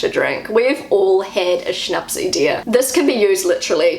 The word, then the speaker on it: Schnapsidee: This word is Schnapsidee. That's how I say it as a New Zealander. This is how Google says it. Schnapsidee.